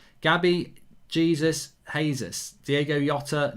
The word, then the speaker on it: Jota: In Portuguese, a J is like the English J. Gabby, Jesus, Jesus. Diego Jota, not Hotter, Jota.